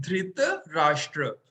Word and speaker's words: धृतराष्ट्र: हम देखेंगे dhritra और राष्ट्र के बीच हिफिन है ध्वनि राष्ट्र इसका मतलब हमें इसको प्रोनाउंस करना है धृत राष्ट्र dhritra राष्ट्र कई बार हम टी को हाफ प्रोनाउंस करते हैं इस प्रकार